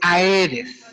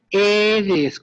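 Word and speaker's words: Aedes: que es el género eres yo sé que se escribe a eres sí pero se pronuncia eres compañeros cada vez que yo escucho a eres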